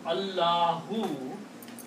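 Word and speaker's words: الله: If the word is in the middle of the sentence or beginning of the sentence, you have to pronounce the whole word. You have to pronounce Allahu. You cannot say Allah Akbar. You cannot say that. You have to make the full pronouncement. Allahu.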